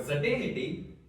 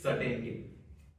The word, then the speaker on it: certainty: For the word certainity, it is pron the pronunciation of that word is certainty.